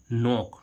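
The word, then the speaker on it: knock: जब भी किसी वर्ड में के बाद एन आए तो वहां पर के क्या हो जाता है? साइलेंट रहता है।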